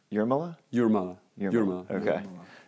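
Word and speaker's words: Jūrmala: guys are hosting and uh so i've been pronouncing it your mala it's your milla your mama your mom okay that's fun that's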